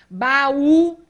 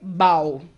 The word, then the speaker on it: baú: Baú, senão eu leio bau, não é?